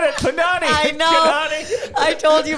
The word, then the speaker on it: Kanani: Kanani. I told you rhymes with Punani and then it's over.